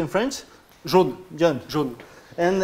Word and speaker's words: jaune: Jeune, how do you say in French? Jaune.